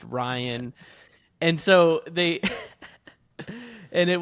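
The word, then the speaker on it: Rayan: And then it was for Ryan, and it was spelled like R-A-Y-A-N, but then it was pronounced Ryan.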